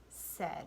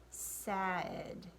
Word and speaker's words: said: is the word said said now if we pronounce it the way that it's spelled it would be sad but that's not the word that it is it's the word said